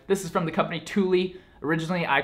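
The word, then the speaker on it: Thule: show you guys this is from the company Tuli originally I called them THU it's spelled out tle e but it's pronounced Tuli so this guy right here is the new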